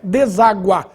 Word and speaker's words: deságua: por causa de oceano deságua desagua bom nesse caso a pronúncia oficial é deságua com agudo no ar o mesmo Vale pro